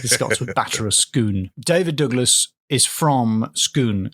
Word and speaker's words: Scone: If we're talking about the little cake, I also pronounce it scone.